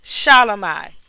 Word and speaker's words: Shelomi: Shelomi.